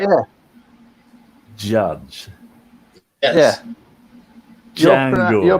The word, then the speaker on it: Django: Django. You're pronouncing it with a Unchained.